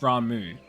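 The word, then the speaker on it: Ramuh: that's how it's pronounced ramu the H is silent apparently these words ceased to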